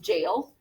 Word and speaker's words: Jael: So I think it's pronounced jail, but I'm not positive.